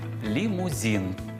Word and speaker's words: лімузин: яка ж друга помилка лімузин ну це із серії укусна конфета Белочка коли на українські слова накладають російську вимову найчастіше це буває саме